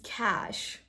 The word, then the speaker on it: cache: Yeah, I heard someone pronouncing this word as cache. This is cash.